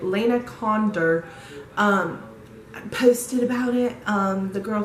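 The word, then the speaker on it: Lana Condor: Lena Condra, I did not say her name right, Lena Condor, posted about it.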